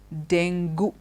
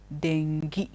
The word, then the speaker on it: dengue: of fever which comes in it is not dingo it is dengue okay you don't pronounce it thank you we pronounce it thank